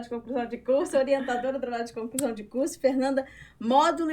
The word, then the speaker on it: Modolo: você também, todo esse processo é possível e é módulo, sem acento Módulo, mesmo. né? Então, Exatamente. como é que fala? A A pronúncia. pronúncia correta é módulo.